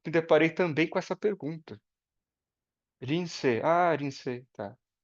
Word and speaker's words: Linsei: o sobrenome, e a pronúncia do meu nome em japonês é Rinse.